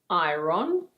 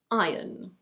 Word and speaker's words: iron: This word is: iron It's not "ai-rohn". In British English this is: iron.